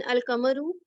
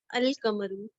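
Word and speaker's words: القمر: And in Al-Kamaru, we are pronouncing Lam, Al-Kamaru.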